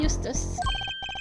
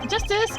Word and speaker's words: Justice: District Court defendant Lobby number two apello Eustace that's Justice better learn how to say it if you ever